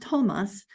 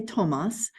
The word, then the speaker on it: Tomas: to th the to it would still be pronounced Tomas in many languages because it's just aspiration right we don't say thas right we say Tomas and when I put